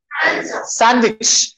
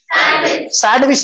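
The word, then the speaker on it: sandwich: सैंडविच, सैंडविच नहीं बोलना, डी नहीं पढ़ना।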